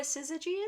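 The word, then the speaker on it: syzygy: or the Divine couple Zizi you know what a sizigi is no it's spelled Sy y zy gy oh yeah it's like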